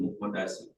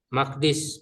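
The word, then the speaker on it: مقدس: Hadihil qoryatah baitul muqaddas. Maqdis bukan muqaddas maqdis.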